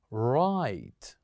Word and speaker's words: right: So here this word is right. Right. So here we kept G and H silent as well.